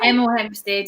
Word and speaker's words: Hemel Hempstead: Spell it. It's like Hemel Hempstead or something. Hemel Hempstead, yeah.